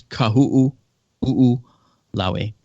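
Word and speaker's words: Kahoʻolawe: So it's kahu'u, lawe. So kahu'ulawe.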